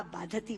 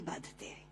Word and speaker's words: बाधते: कष्ट दे रहा है, क्योंकि बाधती शब्द का अशुद्ध उच्चारण आपने किया है। ये शब्द बाधते होना चाहिए। भारम न बाधती राजन यथा बाधती बाधते।